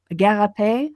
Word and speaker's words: Gariepy: We're going to be talking about JF Gariepy, I think is a correct pronunciation.